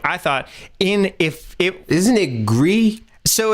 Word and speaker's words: Gris: So it's not, because it's so gris is French for Spanish, but this is French for gray, but this is actually supposed to be Spanish, which the S is pronounced, interestingly enough.